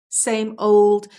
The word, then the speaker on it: same old: We just say, same old, same old, same old, same old, but we don't pronounce the D.